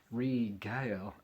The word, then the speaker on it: regale: Regale. Oh, listen. Hello, I'm Regale. Sounds like Gail doing it all over again, doesn't it?